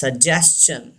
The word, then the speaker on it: suggestion: Yes, suggestion. Like question. हमने question का word आपको सिखाया था, suggestion. This T gives the sound ch.